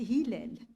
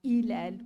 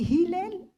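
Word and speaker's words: هلال: mon attention est le prénom du héros c'est Hilel il est si euh si un étranger le prononce il va le prononcer autrement ilel ou mais Hilel c'est autre chose c'est le la lune quand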